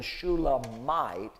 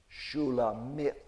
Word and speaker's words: Shulamith: But actually, it's Shulamite with an L in it in Hebrew pronunciation, or not even Shulamite, as though she's from a place called Shulam, but actually the name is Shulamith, as though a female version of Solomon's own name.